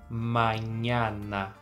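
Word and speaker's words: mañana: tô te dizendo porque a pronúncia dessas letras as todas Tem que ser aberta Então a gente vai dizer manhana Tá bom pode parecer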